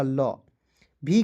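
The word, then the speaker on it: love: एल का हो जाएगा ल। वी का हो जाएगा व। लव पढ़ेंगे। ठीक है? क्या पढ़ेंगे दोस्त? लव। ठीक है? ओ और ई को साइलेंट यहां पे करते हैं।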